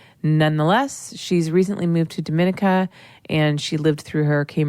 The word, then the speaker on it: Dominica: because you moved to Dominica. Yeah. Okay. It's all about how you say it. Otherwise, people think it's Dominicana and they're thinking Dominican Republic.